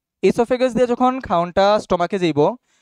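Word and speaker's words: oesophagus: ইসোফেগাস। ইসোফেগাসের আরেকটা নাম কি? Good, the other name of ইসোফেগাস is food pipe. হ্যাঁ, ও রিমেইনস সাইলেন্ট, ও রিমেইনস সাইলেন্ট, ওকে?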